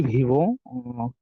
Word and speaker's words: vivent: Third person plural তাহলে এখানে ওয়েনতে সাইলেন্ট থাকবে des francophones qui vivent en colocation হ্যাঁ vivent en colocation.